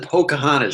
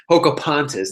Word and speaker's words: Pocahontas: I thought he said, I thought he said Pocahontas.